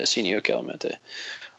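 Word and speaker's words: Senio Kelemete: Yeah, Senio Calamente.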